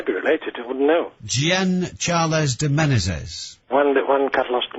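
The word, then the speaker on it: Jean Charles: His name was, and again, pronunciation seems to be, well, you seem to have a choice, but essentially it's Gian Charles, spelt like Charles de Menezes.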